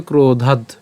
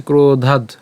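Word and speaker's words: ক্রোধাদ্: প্রথমে উচ্চারণটা কি হবে ক্রোধাদ ঠিক আছে ক্রোধাদ আমরা এখানে দ হসন্ত পর্যন্ত উচ্চারণ করলাম ক্রোধাদ এরপর ভবতি সম্মুহ আমরা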